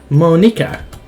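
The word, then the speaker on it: Monika: new for people because it's writing your name Monica that's how you say my name also that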